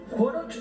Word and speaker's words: Horoch: Y también está con nosotros el profesor de historia, investigador Carlos von Corroch, ¿Joroch o Joroch? ¿Cómo se pronuncia? Joroch. Joroch, sí.